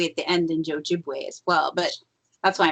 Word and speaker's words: Ojibwe: sure on it because the w e at the end's pronounced way is is that's how they would pronounce w at the end and ojibwe as well but that's